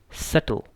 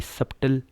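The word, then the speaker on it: subtle: में ये साइलेंट है, तो यहाँ पे भी ये साइलेंट है, तो इसको क्या पढ़ेंगे, सटल। अब ये सब्टल नहीं है, ये क्या है, सटल, यानी बारीक।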